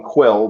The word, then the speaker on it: Kuiil: It's spelled weird. It's Kuiil. So I'm going to call him Quill because it sounds like Quill, Peter Quill.